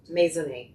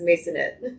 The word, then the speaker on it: Maisonet: So, how do you how should I pronounce it? Mason. Mason. Does anybody actually pronounce it that way for you here? No. Here in Texas is Masonette.